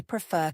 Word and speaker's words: prefer: Prefer has stress on the second syllable. F-E-R. Listen one more time to an example. I prefer cats to dogs.